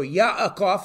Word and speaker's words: Yaakov: So I'll be using a lot of the Hebrew pronunciations. So Yaakov is talking to Laban.